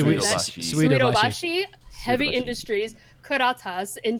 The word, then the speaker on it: Suidobashi: Suidobashi Heavy Suidobashi.